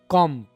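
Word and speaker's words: comb: कॉम यहां पर हम एम को साइलेंट करेंगे। ठीक है? बल्कि बी को साइलेंट करेंगे।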